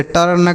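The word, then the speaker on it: turn: Just dust ठीक है अगर यू के बाद आर है तब भी हम आ पढ़ेंगे जैसे जैसे टर्न, curd, बर्न, hurt, dirt.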